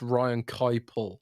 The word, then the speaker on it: Keipel: It seems like that's Ryan also messaged me once and said, "Can you tell Rand it's pronounced Ryan Keipel, not Ryan. Kipple?"